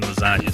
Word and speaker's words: lasagna: So you would say it just like you would say the GN in lasagna.